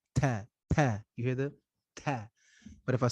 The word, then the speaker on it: ت: So the ta, it's not like the letter T in English. There should be no thrust of air coming from between the teeth when pronouncing it.